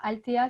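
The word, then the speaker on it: Althea: Alors, Altea, c'est le nom latin de guimauve, donc ça s'écrit A-L-T-H-E-A.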